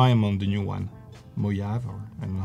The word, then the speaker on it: Mojave: Mojave, or I don't know how to pronounce it. Mojave.